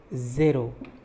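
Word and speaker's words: zéro: 0 is pronounced like zero, Z-E-R-O. There is an acute accent on E, that's why I am saying zero, not zero but zero.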